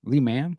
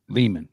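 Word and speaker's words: Lehman: at Lee is leham Le man how do you say that I say lean Leman okay at Leman colleges Center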